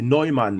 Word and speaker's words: Neumann: C'est Neumann. Non, C'est Newman, mais ouais, c'est Neumann, en fait. Hein, si on veut bien le prononcer.